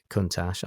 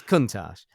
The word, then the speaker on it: Countach: car is a Lamborghini Countach I'm pronouncing that who really knows yeah I've always said I've always said countac but it's not because I've watched Top Gear it's Countach um it's a it's